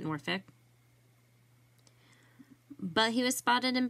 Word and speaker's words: Norfolk: And I said Norfolk, but if you are in Virginia, they actually pronounce it Norfolk.